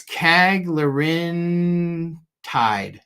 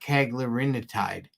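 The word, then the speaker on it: cagrilintide: of them doing it Ketone says it's KAG Lin tide not kagarin tide you're adding an extra syllable I don't care uh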